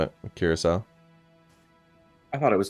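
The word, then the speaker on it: Curaçao: Curacao. I thought it was Curacao.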